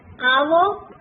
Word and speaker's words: hour: Catch, T is silent. Hour, H is silent.